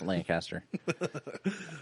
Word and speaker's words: Lancaster: So the one down the one down here on Memorial Drive in in Lancaster, for all you people that hate the way I pronounce it, you're getting better. It's Lancaster. Um they have we've bought like the big tray.